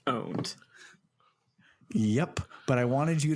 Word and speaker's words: pwned: Our Lord 2020 also it's never been pronounced pwned it's pronounced owned yep but I wanted